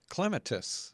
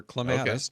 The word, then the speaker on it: clematis: For instance, she was the first person to popularize clematis or clematis, depending on how you pronounce them.